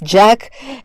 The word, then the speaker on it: JAC: Me, I just, they always say JAC, ECTA, so it's Jack, ECTA.